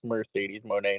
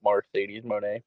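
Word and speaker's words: Mercedes Moné: It's Mercedes Monae, not Mercedes Monae.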